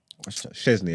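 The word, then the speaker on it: Szczęsny: Szczesny, anyway.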